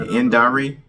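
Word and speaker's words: Indira: Indari is how you say her name.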